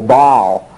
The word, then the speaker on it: Baal: wants them to worship you will sometimes hear this pronounced just as a single syllable bowel uh it's just a matter of what you've gotten used to and in my graduate school we always pronounced it but all so you'll just get